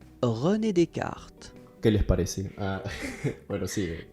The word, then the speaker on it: René Descartes: René Descartes.